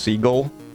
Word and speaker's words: Seagal: Did y'all know that Steven Seagal's last name used to be pronounced Seagull? But he changed it?